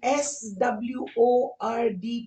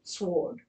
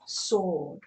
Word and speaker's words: sword: I'm getting is, are you sure about the S-W-O-R-D pronunciation? I've heard it pronounced differently. Oh, yes, I'm sorry, but I am sure about the way it's pronounced. I know you're saying that you've heard it as sword.